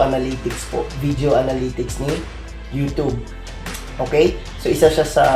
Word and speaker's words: YouTube: Una nyo pong gagawin is buksan nyo po yung YouTube channel nyo. No? Tapos po, click nyo po itong YouTube Studio. Pasensya na, no? Nasanay tayo na YouTube yung tawag, pero YouTube po talaga yung tamang pronunciation.